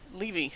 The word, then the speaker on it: Livy: tacitus or pus and leevy or Livy depending on how you want to pronounce that so he's saying this